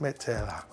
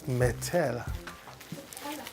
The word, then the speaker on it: Nutella: Bread with Nutella. Okay. It's Nutella, not Metella. Nutella. Nutella. No. It's Nutella.